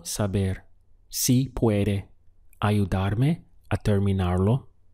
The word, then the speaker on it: terminar: si puede ayudar me the verb to finish is terminar looks like the word terminate in English terminar the syllables would be there me now how would you